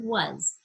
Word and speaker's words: was: Same thing with was. You know, it's not normal to see was as W-A-S. It should, if we're just sounding it out, be W-U-Z. But of course, we spell it W-A-S.